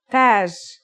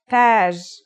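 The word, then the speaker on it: تاج: learn a word using some of these letters taj repeat after me taj taj means crown that's that in the initial form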